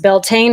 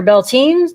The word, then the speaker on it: Beltane: the Isle of Man the word belan pronounced belane or beltine do some people say beltine I don't ever hear that I've never heard that either is heard Bel tan but is believed to